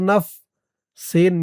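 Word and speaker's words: نَفْسِي: নুন ফা জবর নাফ, সিন ইয়াজের সি, সি এক আলিফ টান, জেরের পরে ইয়া সাকিন। নাফসি।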